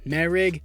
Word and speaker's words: Moehrig: Well, Moehrig, my bad, that's how you pronounce it. Trevon Moehrig to an 88 overall superstar dev.